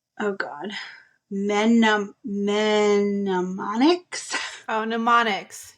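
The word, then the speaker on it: mnemonics: God men menics oh pneumonics you don't pronounce the m pneumonics to remember Concepts so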